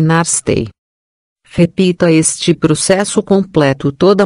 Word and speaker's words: NASTAE: O som é Nastai, pronuncia-se Narstei.